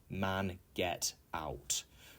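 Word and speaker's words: mangetout: For example, mange tout is another one that's a French word, which could be seen or read as man get out, but it's actually pronounced mange tout.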